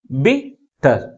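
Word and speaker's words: bitter: ఉన్నాయి two syllabus ఏవి బిట్టర్ బిట్టర్ ఏ syllable ఎక్కువ ఫోర్స్ పలుతుంది ఫస్ట్ సిలబే సెకండ్ సిలబుల్ కంటే ఎక్కువ ఫోర్స్ గా పలుకుతుంది బిట్ ఓకే దీనికి ఎన్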